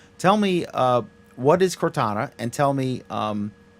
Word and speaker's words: Cortana: uh cortana how do i pronounce that alan cortana i think that's how you pronounce it yes it's not as good as google now yet and siri is a non-contender so tell me uh what is cortana and tell me um how uh siri is